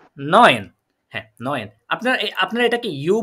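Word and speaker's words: neun: তাহলে এটা হচ্ছে কি নয়েন।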